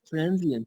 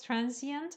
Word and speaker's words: transient: Transient. Yes, yes. There's another pronunciation for this too. One is transient. Another one is transient. Transient. Yes. There are two pronunciations for this word: transient and transient.